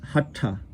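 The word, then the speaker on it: हठ: We also talked, by the way, just one other word, hatha yoga, as opposed to hatha or hatha. It's hatha.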